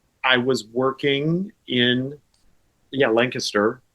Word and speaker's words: Lancaster: Lancaster. And again, you said it right. Did you hear that, everyone? He said Lancaster, right?